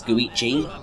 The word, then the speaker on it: Goichi: his given name is Goichi. Go means 5 and Ichi means 1 in Japanese, so Suda51. It's basically just saying Suda Goichi, which is how you'd say his name in Japanese.